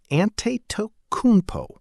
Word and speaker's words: Antetokounmpo: For the record, it's approximately Antetokounmpo.